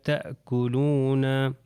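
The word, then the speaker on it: تَأْكُلُونَ: یہ ہو جائے گا الف کے اوپر بیسیکلی ہم نے دیکھنا ہے یہ حمزہ ہے اور حمزہ کے اوپر سکون ہے تو یہ ہو جائے گا تأکلون.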